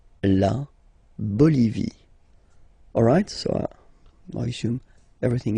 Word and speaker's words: Bolivie: Okay, final not pronounced. La Bolivie. La Bolivie.